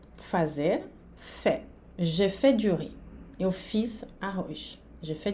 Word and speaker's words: riz: J'ai fait du riz. Eu fiz arroz. J'ai fait du riz. Arroz, né? O Z no final não se pronuncia.